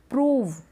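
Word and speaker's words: prove: प्रूव, ये क्या है, प्रूव, अप्रूव। तो यहाँ पर बड़े ऊ के रूप में ओ को बोला जा रहा है, ये जो ओ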